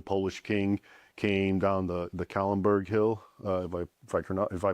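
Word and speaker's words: Kahlenberg: So, the siege of Vienna, 1683, Jan Sobieski, the Polish king, came down the Kallenberg Hill, if I pronounce that correct.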